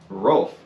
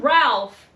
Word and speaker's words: Rolfe: 5th Pocahontas marries John Rolfe Rolf r-o-l-f-e if I'm not pronouncing it right just bear with me not John Ralph Rolf I guess in the